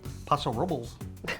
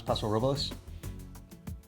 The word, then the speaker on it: Paso Robles: Paso Robles. Is that how you? Is that how wine people pronounce Paso Robles? Listen, I once was like you, Paso Robles.